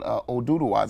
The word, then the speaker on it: Oduduwa: It's at a place called Oduduwas.